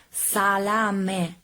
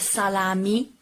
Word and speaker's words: salame: So the correct pronunciation of this word is salame, not salami, salame. The final E has to be pronounced E, not E. In Italian is E, and pronounce it.